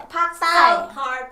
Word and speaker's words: ภาคใต้: Pak Thai.